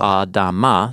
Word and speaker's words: Adamah: Adama, so it rhymes with Adam.